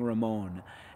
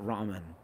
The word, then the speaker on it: Ramon: Fortnite Sweats 2.0 says, thank you for saying Ramon and not Ramen.